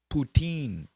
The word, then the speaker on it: poutine: now I'm back to the chat oh it's pronounced poutine okay and then um yeah let's go Frank